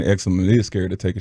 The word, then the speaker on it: Exum: I can't pronounce Dante it. Exum? Exum.